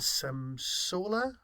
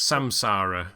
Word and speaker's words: Samsara: time we did thanks to the memory and Sam Sola which I can never pronounce samsara samsara and today we'll be discussing my take